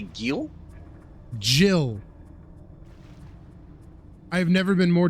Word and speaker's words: Gil: That's definitely Gil, right? Yes, it's 100% Gil.